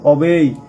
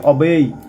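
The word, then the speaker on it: obey: One should অবেই, অনেকে অবি বলে, অবি না, এর প্রোনাউন্সিয়েশন হবে অবেই ওয়ান্স প্যারেন্টস, অর্থাৎ পিতামাতার কথা মেনে চলা উচিত, অর্থাৎ ওয়ান যার পিতামাতা তার পিতামাতার কথা মেনে চলা উচিত।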